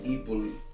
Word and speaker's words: Hyppolite: It's actually Hippolyte. I grew up and still pronounce it Hippolyte.